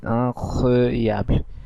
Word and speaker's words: incroyable: এবং এর বাংলার করেসপন্ডিং অ্যাকসেন্টটি হলো সেট incroyable। আপনারা বাংলা অ্যাকসেন্টও দেখতে পাচ্ছেন, আমি এই যুক্তাক্ষর ব্যবহার করেছি ব আর ল দিয়ে। আমি এটা বোঝাতে চাচ্ছি যে বে আর এলটা একসাথে উচ্চারণ করা হবে।